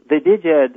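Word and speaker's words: Djed: Like, the Diged, or I don't know how you pronounce that, because I just learned Jed, like Jedi, like the George Jed Lucas, is, Return of the I Jedi.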